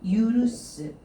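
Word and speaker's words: 許す: 쿄가 훈독은 우리 왜 유르시테 아게루요. 유르스. 이 유르스라고 하게 되면은 용서하다 혹은 허락하다 이 뜻을 가지고 있죠. 유르스라고 읽어주시면 되겠습니다.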